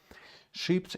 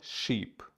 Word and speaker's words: ship: Ships in motion on the ocean should be sure to use caution. Ships in motion. Ships. It's not sheep. It's ship.